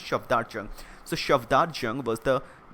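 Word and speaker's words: Safdar Jung: Shafdar Jung, actually not Shafat or Shafdar Jung. Proper pronunciation is Shafdar Jung.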